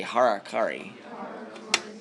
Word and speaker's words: harakiri: Everybody say harakiri. It's spelled H-A-R-A, Kari, K-A-R-I. So it demonstrates their commitment to doing everything possible to protect, their higher nobles' land, right?